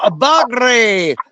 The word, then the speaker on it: Bagre: Guerrero Bagre. That's how you say it properly, Jody. Pay attention. Bagre. You got to roll your R.